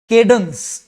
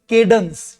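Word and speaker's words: cadence: आवाज जब हिलती है, लड़खड़ाती है या किसी का बॉडी जब लड़खड़ाता है तो थ्रेमुलस थमुलस केडंस इसका उच्चारण है केडंस। ये केडंस है।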